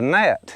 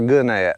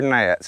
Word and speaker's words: gnat: said no a gnat he says spell it i said g-n-a-t he said goodnight that's a no it's pronouncing that now up north y'all might call them a goodnet but they're nats in florida and anyway um i